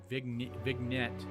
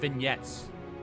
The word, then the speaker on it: vignette: Improve the settings for the Frost UI vignette. I don't know how to pronounce that word correctly. Vignette. I think that's what it is. Vignette. I think the G is silent.